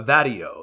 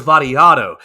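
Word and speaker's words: Vattiato: learn his name earlier Nicholas Barrio that IO uh vadio is is his name that's not that's not how he say his name let me rewind this and here daddy Otto yes that's what it's Nicholas variato is is how you pronounce the name and Nicholas variato he's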